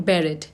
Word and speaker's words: barrette: Bobby pin को American English में कहते हैं बेरेट। Spellings is BARRETTE, बेरेट।